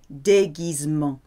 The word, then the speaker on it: déguisement: G-U-I and G-U-E is a hard G. Because normally G followed by I or E becomes soft, like Gite or Gérard.